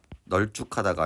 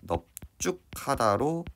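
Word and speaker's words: 넓죽하다: 하지만 이 넙죽하다 같은 경우는 발음을 해보면 널쭉하다가 아니라 넙죽하다로 바뀝니다.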